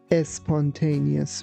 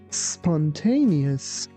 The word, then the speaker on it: spontaneous: You be careful that we don't say es spontaneous. We say spontaneous.